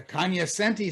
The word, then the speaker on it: cognoscenti: Rick, the Kanyasenti say Kanyasenti and not cognoscenti.